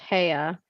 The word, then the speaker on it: Heya: also say my real name is Heya, and it's pronounced Heya, like the Outcast song. But you don't have to drag out the hey part.